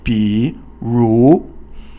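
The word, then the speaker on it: 比如: So 比 is 三声 or third tone. 如 is 二声. So 三声 is falling, then rising, and then 二声 or the second tone is a rising tone, quickly rising.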